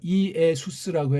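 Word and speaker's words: Ἰησοῦς: 퀴리오스, 이에수스, 크리스토스, 주 예수 그리스도, 주 예수라고 하지 마세요. 이에수스라고 해야 그게 맞습니다.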